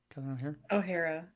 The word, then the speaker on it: O'Hara: oare yeah right I say her name right O'Hara ohhara sorry but yeah love her and uh another